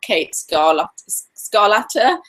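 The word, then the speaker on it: Kate Scarlata: today's guest because she's wonderful, really, really wonderful, Kata Scarlata. Is that how you pronounce it, Kate?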